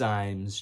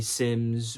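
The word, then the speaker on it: Symmes: Now, his name could be Sims or SS. It's spelled with a Y. I think it's Sims is my name's and it's spelled with a Y and it's I think it's Sims. I'm gonna say Sims.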